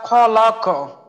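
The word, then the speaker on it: خلق: হইলো খর মাখরাজ তো আমরা উচ্চারণ করার সময় খেয়াল করব যেন খ টা নিচ থেকে হয় তো উচ্চারণটা হবে খলা খি খু খি খু এটা যেন খি খু হালকা ভাবে হয়ে না যায় আয়াতটা আরেকবার বলি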